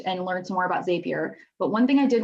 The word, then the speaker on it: Zapier: So it's going to be super important to make sure that, Zapier, my bad. I wrote down the pronunciation and I didn't refer to my notes, so thank you.